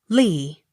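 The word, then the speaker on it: Leigh: e the favor l e i g h lee l-y-v-e-d-o-n livedon m-a-c-n-a-m-a-r-a mcnamara accent on third syllable m a i n w a r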